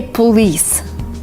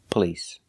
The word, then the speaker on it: police: so watch me carefully a lot of people say police which is not right it's police police kind of blowing a candle we do not say police you're not blowing out a candle the word is police police we don't use the a sound like stop and hot we use the uh the short sound uh like cup and up p p police the